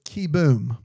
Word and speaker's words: Keyboom: And then it says keyboom. And then in parenthesis it says pronounce ky in all caps. No, in in lowercase dash all caps boom.